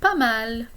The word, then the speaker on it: pas mal: I could say pas mal, not bad. Notice the S is silent here. I could say comme ci comme ça.